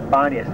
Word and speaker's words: Banias: That's simply the Arab pronunciation of Panius. A lot of times Arabs have difficulty pronouncing the b, or the p, rather the p sound. So Pan became Ban. Panius became Banias.